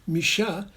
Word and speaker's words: Mucha: exist and in fact the french who pronounced mucha misha called it la still